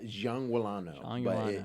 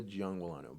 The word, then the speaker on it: Giangualano: how do you say your last name uh Jang wano it's it's Jang wano but most people that have seen me around